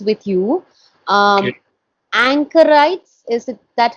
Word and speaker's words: anchorite: pronunciations with you um anchorites is it that how it is pronounced in the next page anchorite anchorite is correct and then Wilder or